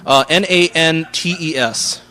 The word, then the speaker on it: Nantes: It's Quebec. It's French. They don't pronounce every letter. Nantes.